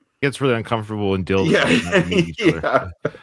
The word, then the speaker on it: Dildo: It's not Daldo or whatever. No, it is for It is Dildo, Newfoundland.